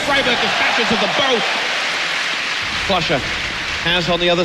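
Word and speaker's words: friberg: them coming towards him first man is pronounced freiburg flusha has on the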